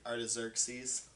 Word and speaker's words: Artaxerxes: it's like a r-tx ERX yes but it's pronounced like artaxerxes yeah okay and so you read it in